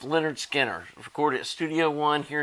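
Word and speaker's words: Lynyrd Skynyrd: mile from my house pronounced Leonard Skinner recorded at Studio One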